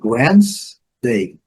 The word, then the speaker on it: Wednesday: Porém, temos que ter cuidado para não pronunciar o D e nem esse E.